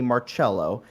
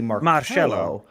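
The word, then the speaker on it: Marchello: like uh it's m-a-r-c-h-e-l-l-o but the c-h is pronounced like an s-h and that like that always bugged me because i was like in english it would be marcelo and italian it would be more cello yeah uh it would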